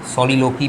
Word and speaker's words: soliloquy: soliloquy जो है, जिसे soliloquy भी कहते हैं, soliloquy इसका प्रोनाउंसिएशन है।